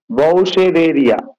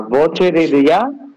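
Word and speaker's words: Wuchereria: তো এইটার উচ্চারণ হচ্ছে বউশেরিয়া, ঠিক আছে? উচ্চারণ হবে অনেকটা ভি এর মতো। আর এইটার সাথে আছে ব্যাংক্রফটি, BANCROFTI, ব্যাংক্রফটি, উচেরেরিয়া ব্যাংক্রফটি বা বচেরেরিয়া ব্যাংক্রফটি, অথবা যেটাই বলো একই, ঠিক আছে?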